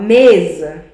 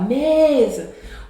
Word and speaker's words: mesa: Quando eu falo mesa, eu vou falar mesa. O E, a penúltima sílaba, que é o me, ela é mais forte.